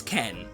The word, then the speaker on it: Khan: This is Ken, spelled with an A for some reason, but pronounced with an E.